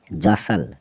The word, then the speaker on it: jostle: अगला है JOSTLE, जौसल, जौसल मतलब धक्कम धक्का करना।